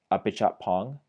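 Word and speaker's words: Apichatpong: Uh, his first name I know is pronounced Apichat Pong.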